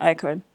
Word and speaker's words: IKOJN: Uh why the name Icon? So it's actually interesting and not many people know this but my second name is Jockey. So icon is jockey spelled backwards and the J is silent.